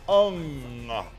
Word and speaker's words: Hung: The Hung is pronounced Ung. Not to be confused with William Hung.